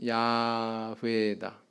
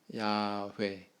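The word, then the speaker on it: 야훼: 저렇게 발음할 리가 없다 그럼 그 사람들 발음 습관상 어떻게 발음할 거 같냐 가장 가능성 있는 것은 야외다 야회 그래서 어떤 성경에는 또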